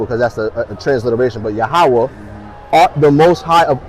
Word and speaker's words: Yahawah: How do you spell it? Yahawah? Yeah, so YAHAWAH. A between the H. Okay, yeah, Yahawah and an H.